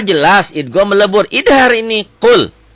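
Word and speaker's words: قُلْ: Idhar ini qul. Jadi nggak boleh lebay. Qul, nggak boleh ditahan. Qul, jelas ya. Qul, kayak dihentak.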